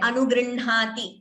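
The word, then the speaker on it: अनुगृह्णाति: Before we conclude, the way we pronounce Anugrinhati is like I just said, Anugrinhati. That is how we say.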